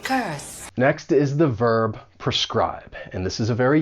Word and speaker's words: prescribe: Now this verb has 2 syllables, and the stress is on that second syllable, prescribe. And that first syllable, even though it's spelled P-R-E, it has a pr sound because it's unstressed.